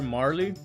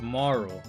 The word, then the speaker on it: Marle: uh so I always used to call her Marley. Always always always always called her Marley when I used to play this game when I was younger. And so I I realized it's actually pronounced Maro.